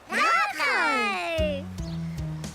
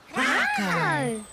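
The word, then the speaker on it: rākau: Rako. Can you tell me the sound the word begins with? Rako. R. Ka pai, r. Now try sounding out the word rako. Rako. Ra. Ka. Oo.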